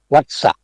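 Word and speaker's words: วัสสะ: เบี้ย วัด วัด อ่า แต่ เวลา ที่ ออก เสียง จริง ๆ เี่ เ เรียก ว่า วัด วั สะ เป็น วั สะ วั สะ หมาย ถึง ปี เช่น คำ ว่า ทศวรรษ คือ 10 ปี หรือ ศตวรรษ คือ 100 ปี นะ แล้ว ก็ แต่ แต่ เมื่อ ออก เสียง ผิด เป็น หวัด จึง ทำ ให้ เขียน ผิด ไป ครับ แต่ อย่าง ไร ก็ ตาม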